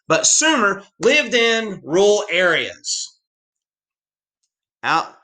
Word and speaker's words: Sumer: so most people in sumer that's how you pronounce it not summer because it need another m but sumer lived in rural areas